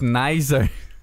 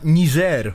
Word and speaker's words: Niger: Correct, Niger. Tak, jeszcze można Niger mówić ponoć. Bo to francuska wymowa.